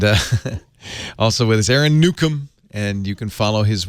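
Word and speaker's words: Newcomb: Twitter's fine I'm Aon Nukem everywhere so Facebook Twitter Google+ just type in Aon Nukem you'll find me a r o n NE wcom B the B is silent or is it it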